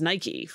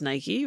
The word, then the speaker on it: Nike: don't seem to be sure that's how it's pronounced I mean in here it's Nike sure I mean that's it all the ads it's Nike right I've never heard anyone really anyway but